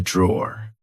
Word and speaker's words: drawer: This is a drawer. Like I said, um, be careful because in British English, we don't pronounce the e at the end. We just say draw.